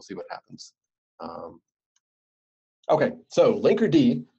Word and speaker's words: Linkerd: Okay, so Linkerd, most important thing is you have to pronounce it with the D because that's separate.